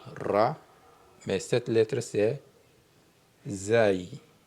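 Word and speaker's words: زاي: Ensuite la même forme que Ra mais cette lettre c'est zaï.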